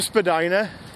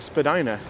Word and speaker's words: Spadina: to spell that word, people started pronouncing it differently, and now the common pronunciation of the word is just Spadina. But if you go to that museum, I believe they still use the original pronunciation, Spadina.